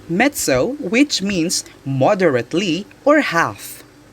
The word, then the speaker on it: mezzo: italian word for strong number three mezzo is pronounced mezzo which means moderately or half number 4 mezzo